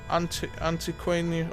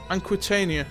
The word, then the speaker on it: Aquitania: Antiquania, or how do you say it? Aquitania. Yeah, that's how you say it.